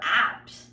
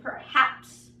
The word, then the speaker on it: perhaps: per hats now again I think we're apt I say perhaps perhaps and perhaps is like